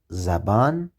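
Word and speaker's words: زبان: four letters in fact one of the vowels is missing and it's not written but it is red the missing vowel is a short vowel it sounds a and it's called fat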